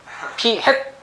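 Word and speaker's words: p̂: 실제 읽으실 때 P 헷이라고 읽습니다. 아시겠죠? P 헷 아시겠죠? 모자란 얘기예요. 알겠죠? 모자를 쓰고 나온단 말이에요. 그래서 표본 비율은 저렇게 모자를 쓰고 있어요. 이거 P햇이라는 게 정해진 용어니까 P햇을 읽으셔야 돼요.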